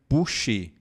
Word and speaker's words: boucher: Lembre-se que o O e o U em francês nós falamos U. E por isso que pronunciamos dessa maneira boucher.